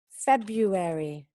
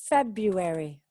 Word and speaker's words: February: February. February. Okay. February. No es February. Da igual cómo se escribe, ¿eh? Es enfocarnos en la pronunciación.